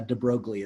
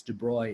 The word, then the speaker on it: de Broglie: one more pressing question which is uh the pronunciation of De broy it's not a de broglie it's de brois it's french word he's a French Aristocrat who